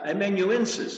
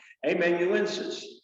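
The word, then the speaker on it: amanuensis: he was peter's emmett hey man you in emmenuences i'll say it right if it kills me amen you insist in other words the secretary somebody that you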